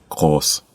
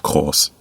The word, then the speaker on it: groß: peu du mot, mais on peut bien dire qu'elle est prononcée comme le mot association. La phrase est Die Lokomotive ist groß.